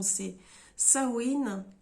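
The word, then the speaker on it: Samhain: fête vous pouvez l'appeler chat mène tout dépend comment vous allez prononcer la vraie prononciation ses seins win je le dis pas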